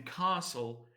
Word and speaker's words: castle: example is not pronounced the T in Castle is not also pronounced so this is another